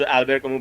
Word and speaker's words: Albert Camus: it's pronounced Albert Camus, but I think it's written Albert Camus.